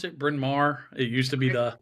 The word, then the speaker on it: Bryn Mawr: How do you pronounce it? Bryn Mawr.